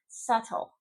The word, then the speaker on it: subtle: Subtle. Subtle. No B there.